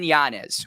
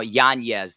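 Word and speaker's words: Yanez: of influencer boxing um Adrian janz or as the pronunciation now yanes that he's he's corrected everybody uh tough night man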